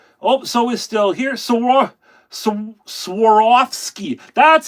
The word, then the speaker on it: Swarovski: Swarovski, that's how you say it. Thank you, Darren. Sarovski crystals.